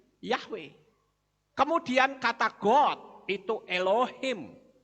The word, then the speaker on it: Yahweh: bawah huruf Waw jadi Bacanya yehuwah apa betul yehuwah saudara kalau betul yehuwah logikanya orang akan berkata Haleluya karena depannya yeah tapi faktanya bukan Haleluya tetapi halelu yah yah itu kependekan dari Yahweh kemudian kata gold itu